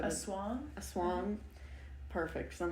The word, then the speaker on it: aswang: How did you pronounce it? Because you said Aswang. Aswang.